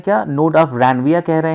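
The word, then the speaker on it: Ranvier: इस गैप को ही कह रहे हैं क्या, नोड ऑफ रैनविया कह रहे हैं। रैनविया, आर नहीं प्रोनाउंसिएट करना है, रैनविया कहेंगे इसको हम लोग, जो क्या करता है, अलाउ करता है क्या, डिफ्यूजन्स को।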